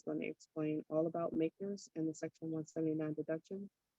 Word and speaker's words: MACRS: commonly referred to bias initials makers um macrs and we pronounce it makers so the general rule